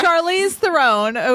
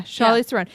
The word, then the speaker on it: Charlize Theron: Anyway, Okay, Charlize, so Charlize Theron, which is apparently the correct pronunciation according to Justin, who would bang her.